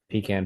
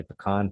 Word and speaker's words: pecan: Did enjoy myself a little bit with a pecan pie, or as my wife likes to say, pecan pie. Always a fight in the household how it's pronounced, but I'm making the video, so I'm saying pecan.